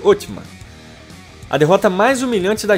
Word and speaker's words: Osman: O nome otomano vem do fundador do império, Osman, que em turco era pronunciado Otman.